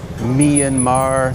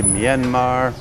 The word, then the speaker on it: Myanmar: Some people say Myanmar, some people say Myanmar, but in fact the R on the end is a silent R. It was never meant to be pronounced in the Burmese language. I think they call it a non-rhotic R or something like that. It's only there to tell you how to pronounce the letter A that came before it.